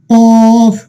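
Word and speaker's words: ق: আপনার খেয়াল করুন, এই যে জিহ্বার গোড়া দেখুন, এই যে উপরে তালুর সাথে কি করতে হয়? লাগিয়ে উচ্চারণ করতে হয়। এই জন্য কফের উচ্চারণটা কি হয়? একটু মোটা করতে হয়। আমরা বলি কফ কফ কফ কফ কফ।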